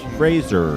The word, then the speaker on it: Fraser: It's pronounced Fraser. A lot of people don't say it right.